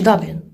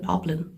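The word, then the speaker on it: Dublin: Даблін говорять ірландці і так само британці. Така просто вимова. От вони говорять даблн. Даблін, тобто друга буква читається як а.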